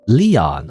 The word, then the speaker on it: Leon: actually not that bad his name is pronounced Leon oh okay Leon from um foreign which one was it Resident Evil four I wanna say it